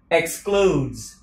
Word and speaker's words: excludes: That price excludes âm cờ sờ excludes accommodation.